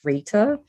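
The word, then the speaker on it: Rayta: my first name is to spell it phonetically r-a-y-t-a and it's pronounced rita though i'm not new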